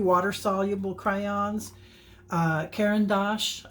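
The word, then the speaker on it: Caran d'Ache: water soluble crayons uh kendos I think is how you pronounce that kendos c c a r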